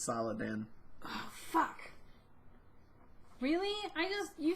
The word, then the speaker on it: Saladin: It's Saladin. Which sounds an awful lot like Sultan, if you take out some of the syllables.